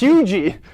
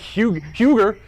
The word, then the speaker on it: Huger: It's Hugie, not Huger. I made that mistake. Huger.